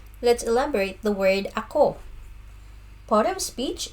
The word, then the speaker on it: ako: let's elaborate the word ako. Part of speech, it's a personal pronoun. Pronunciation, it's a two-word syllable. So the stress is on the second syllable. So ako.